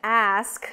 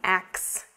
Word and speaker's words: ask: But the pronunciation of ask should not be axe. It's ask.